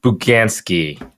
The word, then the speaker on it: Bugansky: stop recording yeah we are here with buganski is that i'm not sure i'm i've been pronouncing your last name correctly you did you